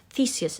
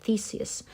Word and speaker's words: Theseus: And one of these years, Theseus is how we pronounce his name, Theseus, was one of these young people who were given as a tribute.